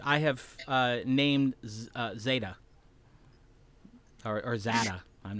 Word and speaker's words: Tza: Yeah, Za. He is silent. TZA. It would be pronounced like Zar. Za.